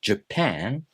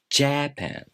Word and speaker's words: Japan: The reason I say Japan instead of Japan is because I memorize the accented syllable or stressed syllable of the word.